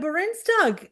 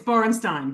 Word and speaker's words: Borensztajn: Where did you get the G from? It's Borenstein, but thank you.